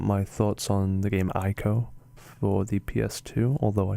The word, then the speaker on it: ICO: And just as a confirmation, I understand that it's meant to be pronounced ICO. I've just become so used to saying ICO that that's how I'm going to say it throughout the video.